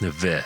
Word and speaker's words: Nevers: Gildard at Nevers (pronounced neh-vuh) as a nun where